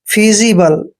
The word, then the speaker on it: feasible: देखिए दोस्तों यहाँ पर F का उच्चारण हमने फे करना है और EA का उच्चारण हमने ई की मात्रा करना है। और जब भी एस से पहले ए आता है और एस के बाद आई आता है तो एस का उच्चारण जय करते हैं और आई को ई की मात्रा पढ़ेंगे। बी का उच्चारण हमने बै करना है और LE को ले पढ़ते हैं।